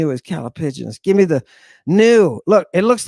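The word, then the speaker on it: ν: caligus give me the new look it looks like a v in English yes the new which makes an n Sound looks like a V that may be confusing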